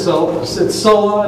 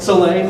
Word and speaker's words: Soleil: It's Sola, am I pronouncing that right? Soleil, thank you.